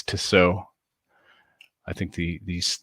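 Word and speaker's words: Tissot: name i think it's to sew i think the these the last t is silent t-i-s-s-o-t and you can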